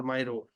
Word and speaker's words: MIGO: Serv service invise from Migo m o we can pronounce Meo or Myro okay so every procurement